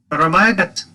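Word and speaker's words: go raibh maith agat: Guramayagat. Guramayagat. Guramayagat. There's several ways to pronounce this.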